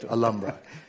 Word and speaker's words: Alhambra: I learned that you don't pronounce the H. Miguel. Alhambra.